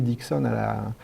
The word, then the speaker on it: Dickson: l'anagramme d' harry dickson il faut prononcer le oui dixon à la langue anglaise pour retrouver le hérisson donc c'est ce fameux